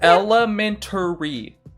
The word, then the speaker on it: elementary: is just it's simply it is spelled a r y there is an a there so it's elementary don't take the a